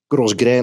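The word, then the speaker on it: grosgrain: From silk, Gros Grain is how you pronounce it.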